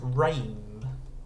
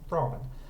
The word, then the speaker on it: ramen: Or you expect it to be pronounced rame if you've got R-A-M-E at the start. But no, it's ramen.